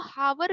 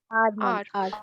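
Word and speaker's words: hour: बहुत से लोग इसको हावर भी बोलते हैं, बहुत से लोग इसको आवर भी बोलते हैं, बट the right pronunciation is, क्या है इसका राइट प्रोनाउंसिएशन? आर.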